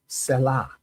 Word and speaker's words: salah: And I put in parentheses, I put the pronunciation to make sure I get it right, but it's salah.